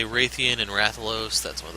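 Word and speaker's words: Rathian: and I mentioned before I always called them with a long a as in gray thean rather than Ratheon so you'll probably hear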